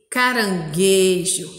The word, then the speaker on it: caranguejo: forma a sílaba G, caranguejo. Aqui a gente não conseguiu ouvir o som da letra U, vocês perceberam? Em guaruba, sim, caranguejo, não.